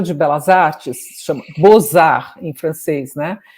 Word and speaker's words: Beaux-Arts: Belas Artes, se chama Beaux-Arts em francês, né? Então, Beaux-Arts se escreve B-E-A-U-X, Art, A-R-T-S. Aí eles mudaram o nome do museu para Beaux-Arts, assim, B-O-Z-A-R, que é como se pronuncia.